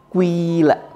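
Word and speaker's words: قِيلَ: Maka bacanya adalah dengan cara kuila. Pertama dhammah dulu, ku gitu kan. Terus dengan cepat berubah menjadi apa?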